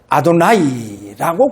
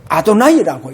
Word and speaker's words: 아도나이: 그래서 여호와라고 하는 이 단어를 이제 발음하지 않고 어떻게 읽느냐? 아도나이라고 그렇게 읽습니다. 그래서 포로기 이제 후부터 여호와를 전부 다 이제 아도나이. 그래, 아도나이라고 이렇게 이제 그렇게 읽고 그렇게 이제 발음을 하게 되어졌다는 겁니다.